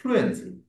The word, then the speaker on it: fluency: ওই ফুলু কেন বলবো, ওখানে এফ এর পরে ইউ নাই, সুতরাং আমরা ওটা একদম একবার উচ্চারণ করব, ফ্লুয়েন্সি।